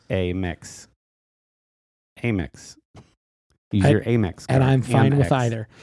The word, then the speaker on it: Amex: And I've never heard AIM, like AIMEX, Amex. Amex, yeah. Versus I've always heard it and pronounced it Amex, like American Express.